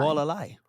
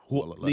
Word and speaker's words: Hualālai: Hualālai. Hualālai.